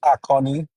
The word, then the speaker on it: Aonyi: Um it's pronounced Aonyi. It's a name.